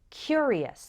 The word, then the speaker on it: curious: we pronounce it so the adjective form is curious the first syllable is strong he was a curious boy and in the